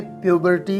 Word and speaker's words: puberty: प्यूबर्टी, आपने इसे प्यूबर्टी pronounce करना है।